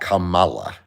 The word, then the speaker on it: Kamala: They say it's not Kamala, it's Kamala. I still don't know how to pronounce her name.